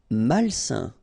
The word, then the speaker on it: malsain: Malsain. A-I-N together, it's a nasal and it's un. Malsain.